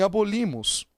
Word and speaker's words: abolimos: Por exemplo, em abolimos, qual é a sílaba tônica? Abolimos, no li.